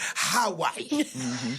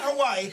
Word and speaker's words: Hawaii: That's how they say it. Hawaii. Not Hawaii, Hawaii.